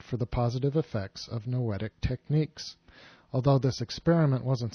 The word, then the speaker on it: noetic: The research concerned the effectiveness of noetic techniques, spelled like poetic, only with an N.